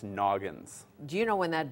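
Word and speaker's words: Nognz: That's how it's spelled, and it's pronounced Noggins.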